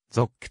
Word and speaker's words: ZOC: た新料金システムゾックはゾーンコントローラーキャブの略でゾックと読む初乗り 1000円で 6km